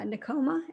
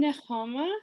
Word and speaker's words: Nehama: for us so uh nicoma am i pronouncing your name hi i'm nehama it's got a like you're kind of clearing your throat it's hebrew um i currently am